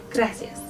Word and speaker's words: gracias: Pretend that R is a D and then loosen up your tongue.